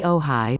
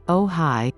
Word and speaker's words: Ojai: movie lost horizon today ohai pronounced oh hi from the chumash word